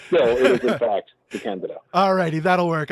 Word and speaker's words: DeCandido: by now but still it is in fact the candid all righty that'll work work I'll do that